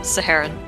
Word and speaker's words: Saharan: Yeah, every time I see your name now, I'm like, how do you pronounce it? Saharon, right? Yeah, Saharan.